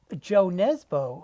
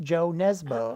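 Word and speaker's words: Jo Nesbø: But I was thinking JoJo Moyes, Joe Nesbo. I mean, Yeah. I was. Although I believe his name is pronounced Yo. Oh, Yo Nesbo. Okay, Yo Nesbo.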